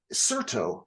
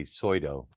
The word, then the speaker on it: Certo: some time with me I appreciate it uh Certo I have that pronounced correctly I assumed but that is correct